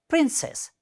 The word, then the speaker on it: princess: Similarly, the next word is princess. It has just 2 syllables, and first one is the stress.